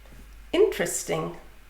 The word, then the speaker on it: interesting: Interesting, that's interesting. So the first one is two syllables, in-terest. Second one is three syllables, In-teres-ting.